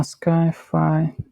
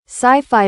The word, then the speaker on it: sci-fi: Uh Skyi. Do I pronounce it correctly by the way? Skyfi sci-fi movie.